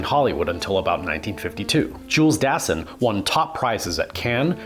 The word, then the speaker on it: Dassin: and Greek film industries led many to believe that his name was pronounced Dassin, which is how I thought it was pronounced all throughout college.